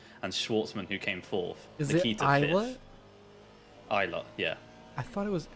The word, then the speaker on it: Ilott: Ilott, yeah. I thought it was Ilott. Ilott. I've always heard it pronounced Callum Ilott. In the UK, we call it Ilott.